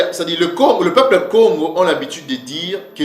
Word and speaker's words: Congo: Cees mot là donc le deuxè cas là va se prononcer avec un son du de G comme un son de G ok donc c'est ce qui donne le son g que j'ai que vous voyez là donc c'est Congo c'est comme ça que ns pè le prononcer Congo OK et que veut